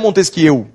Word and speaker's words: Montesquieu: um francês chamado montesquie montesquie se escreve Montesquieu mas é o francês montesquie que escreveu o livro